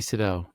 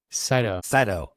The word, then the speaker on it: Sydow: Sydow. Sydow. Can't wait for everyone to hear how he pronounces the same each time. It's not Sydow. It's Sydow. You know, you have to say Sydow, not Sydow.